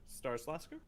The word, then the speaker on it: Starilaskur: and make sure it starts lasker correct and i said it right that time um and uh yes